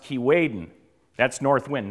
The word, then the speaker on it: Keewaydin: And when the north wind starts to blow, and in the language of the people that lived here 300 years ago, it's pronounced Keewaydin.